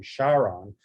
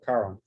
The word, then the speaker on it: Charon: a wife named sharon so he wanted to change it to sharon spelled the c spelled the same but sharon instead of kharan not chiron karan sharon anyway caron